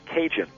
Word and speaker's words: Cajun: French territory and um these acadians from Canada the term ended up being pronounced cinjun so your Louisiana Cajun